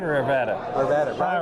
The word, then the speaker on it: Arvada: Arvada. All right. Here's how you remember this. Rhymes with Nevada.